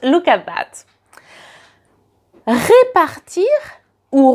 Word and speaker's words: répartir: Répartir ou repartir. So, just the accent on the E, and you can notice it in the pronunciation.